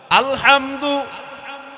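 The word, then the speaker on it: الحمد: আলহামদু মানে সমস্ত প্রশংসা অর্থ কি জোরে বলেন না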